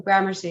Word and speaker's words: Gramercy: at this restaurant near gramercy grandmaster park is that how you say it oh gramercy yeah granacy park and so